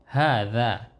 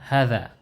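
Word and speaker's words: هذا: Ketika tidak berharokat, kita tahu bahwa cara membaca hadza ini, hanya ini dipanjangkan. Hadza. Jadi bukan hadza, bukan begitu. Namun hadza. Ya, demikian. Artinya ini. Hadza baitun.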